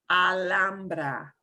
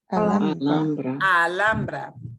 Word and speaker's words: Alhambra: And we pronounce, you'll hear this as Alhambra, or people who live in California near this town with the same name. It is not Alhambra, it is Alhambra. Alhambra.